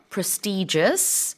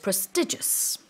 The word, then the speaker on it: prestigious: 발음은 두 가지가 가능하고요 prestigious or prestigious 다됩니다 one is one is natural pronunciation I think I go with prestigious I think I think generally in the UK prestigious is the more common pronunciation But I Do hear prestigious lot Because I'm suran engish speakers is American way saying 다시 한번 읽어보겠습니다 independent